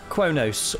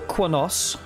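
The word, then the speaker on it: Qo'noS: a look at our capital cuonos or quanos however you like to pronounce it i think both are correct i i assume uh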